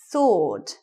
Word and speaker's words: sword: a kind of weapon sword silent w what about this one